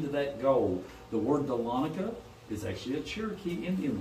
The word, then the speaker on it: Dahlonega: The word Dahlonega is actually a Cherokee Indian word. It's pronounced Dahlonega, which means yellow.